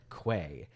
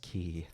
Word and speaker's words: quay: like oh my God that's pronounced key are you sure that's